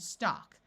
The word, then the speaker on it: stalk: So we have walk, talk, chalk, and stalk. In all these words, the A has its broad sound of ah, and the L is silent.